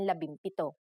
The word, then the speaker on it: labimpito: If a P follows the NG connector, the NG becomes an M, just like in labimpito.